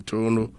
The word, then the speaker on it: Toronto: Kim promise live in Toronto Kim promise Toronto the right pronunciation toron promise live in Otawa Canada